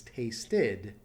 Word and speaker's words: tasted: the past tense has tasted since it ends at a tea that's one of the exceptions you add the syllable and it becomes an